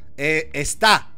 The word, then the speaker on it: está: Está. Con acento en la A.